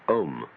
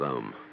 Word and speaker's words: Om: rather than its meaning chief of these is the syllable om or Al called the prava or the sound of God because it involves the whole range of the voice from the back of the throat to the lips take the tone from